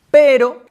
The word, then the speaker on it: però: se escri entre comes este pero esic que es pronuncia la o oberta y que en Valencia